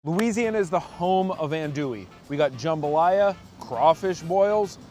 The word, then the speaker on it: andouille: We are gonna learn from Jared, the owner, and Brian, the butcher, how to make traditional andouille. Andouille. I've been pronouncing it wrong for years.